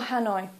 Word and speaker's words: Hanoi: use the English pronunciation so for example Hanoi please don't say h please say Hanoi or for example Kolkata